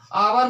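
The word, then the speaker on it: hour: और देखिए आवर्स, आवर में क्या है स्टूडेंट्स, देखिए आपको एच दिखाई दे रहा होगा, दिखने में क्या दिखाई दे रहा होगा, एच दिखाई दे रहा होगा, लेकिन इसको कैसे बोलेंगे, आवर, आवर बोलेंगे स्टूडेंट्स, आवर, तो इसीलिए इसमें हम एन लगाएंगे।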